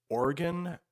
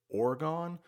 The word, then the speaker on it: Oregon: This state is Oregon. You might hear some people call it Oregon, but let's first talk about where you might find this state in the United States.